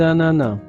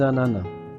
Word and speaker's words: ananas: Donc ici, il y a une liaison entre le S et le A. Donc, on crée la voyelle euh orale za des ananas sans prononcer le s final.